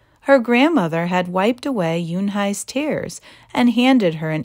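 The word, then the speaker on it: Yunhei: "Yunhai," said Yunhai. "Une?" the girl asked, scrunching up her face. "Ooh, ooh, une," some kids chanted. "No, no," Yunhai corrected. "It's spelled U-N-H-E-I. It's pronounced Yunhai."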